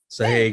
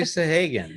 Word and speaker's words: Sahagun: Did I pronounce that right, Missy? Sahagun. Sahagun. Sahagun. Missy Sahagun, yes.